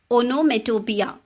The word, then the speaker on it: onomatopoeia: But it's very easy to pronounce. It is pronounced as onomatopoeia.